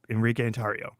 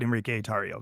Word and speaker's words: Enrique Tarrio: birth certificate is Enrique tario it is it's Enrique andario and you don't want to be called by anything else but Enrique atario that's you could call me Henry Enrique if